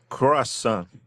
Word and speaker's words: croissant: Croissant. Pretty close. Try emphasizing the nasal sound at the end a bit more, like croissant.